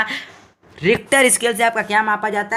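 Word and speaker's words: Richter: इसका जो यह मतलब इसका सही उच्चारण है रिक्टर एक ना रिक्टर इस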